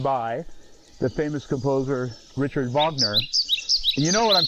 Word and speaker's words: Wagner: the famous composer Richard Vagner and you know what I'm talking about because I pronounce his name correctly most people say Wagner but no it's Vagner and the funny thing